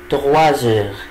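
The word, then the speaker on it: trois heures: طيب نفترض العقرب الصغير جه على 3 يبقى الي تغوازور، الي تغوازور، الي تغوازور، يعني الساعة ايه؟ 3. طبعا هنا الاس نطقتها زد عشان بعدها ان فويل.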